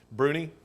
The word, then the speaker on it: Bruni: night on though Fitz it's Bruni or Brunei be our uni Bruni yes he he wrote in